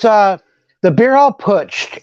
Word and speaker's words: putsch: It's the beer hall putsch. It's spelled Putch.